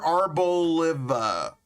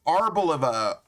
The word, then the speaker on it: Arboliva: Ar arboliva arboliva. It's like olive and I know it's arb like as in like the tree kind of thing.